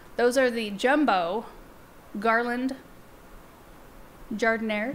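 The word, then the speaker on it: jardinières: Jardinieres. That's how they told me to pronounce it. Yeah. Is that right? Does that just feel wrong every time you say it? It feels wrong. It feels like it needs to have a French pronunciation.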